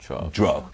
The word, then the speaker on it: drug: 약도 drug 아니에요. drug 이렇게 발음해 주셔야 됩니다.